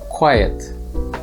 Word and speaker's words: quiet: there is little noise quite is a short one-syllable word meanwhile quiet has two syllables quite quiet the next pair is